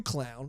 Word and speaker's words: Qlown: It was from a commenter known as Q Clown, or Clown with a Q. Clown. QLOWN. It would be pronounced clown.